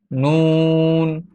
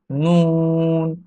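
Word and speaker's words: نون: এরপরের হরফটি হচ্ছে নুন, নুন, নুন, নুন। জিহ্বার আগা তার বরাবর উপরের তালুর সঙ্গে লাগিয়ে নুন, নুন।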